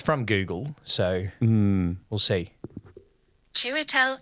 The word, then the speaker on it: Chiwetel: Chiwetel Ejiofor. Chiwetel Ejiofor. I think he was really good. Chiwetel Chiwetel Ejiofor. Chew, like choo-choo train. Chiwetel Ejiofor. Chiwetel Ejiofor.